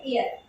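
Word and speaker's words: heir: की बात करते हैं, जबकि वो हेयर नहीं है, ये है एयर। यहाँ पर आपका एच साइलेंट होता है, एच को हम नहीं पढ़ते, एयर बोलते हैं, तो यहाँ पर एयर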